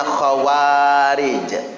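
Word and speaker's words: خوارج: Kalau zaman dulu namanya khawarij. Kha, waw, ada alif. Jadi dua harokat bacanya. Ro dan jim.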